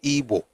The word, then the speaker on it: Ibo: But the pronunciation is Ebo, not Ebo, but Ebo, but the spelling is IBO.